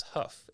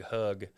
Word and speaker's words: Hough: it uh they would didn't know how to pronounce my last name, which is Huff. H O U G H. So, they would say Doug Hug.